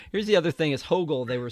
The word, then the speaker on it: Hoggle: Um Oh, here here's the other thing is Hoggle. They were saying that the Hogle character, the one Hoggle, I gota I got to correct you at some point. I'm sorry. You do. You do. Hoggle.